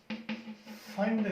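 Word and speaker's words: Pfund: And this series is called फंड series. P silent होता है इसमें।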